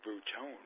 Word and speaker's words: Bruton: thanks right bit see you pronounce it wrong it's fruit own ahaha I've made promises any other way when I play dice baseball or simulation baseball Billy Bruton never do that man